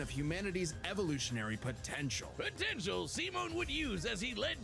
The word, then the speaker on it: Simon: I I thought it was Simon. I I didn't even think to look up the fact that it was Simone.